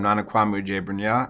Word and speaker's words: Nana Kwame: I watched some interviews with him hi I'm Nana Kwame and I'm the author of Chain Gang All-Stars